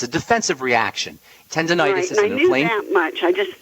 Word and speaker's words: tendonitis: uh T tendonitis in my jaw tendonitis tendon tendonitis not tentis tendonitis okay yeah tendonitis I said it wrong